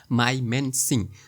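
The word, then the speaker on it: Mymensingh: বাট এখানে সিংহটা উজ্জ থাকে অর্থাৎ হালকা করে উচ্চারণ করা হয়ে থাকে। সো মাইমান্যানসিং।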